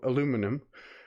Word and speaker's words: aluminum: make it out of aluminium or for leo aluminum um but i'm going i'm